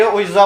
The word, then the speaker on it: Ouija: तो भाई हम भी कोशिश करेंगे ओइजा बोर्ड गेम खेलकर, जिसको वीजी बोर्ड भी बोलते हैं प्रोनाउंसिएशन में।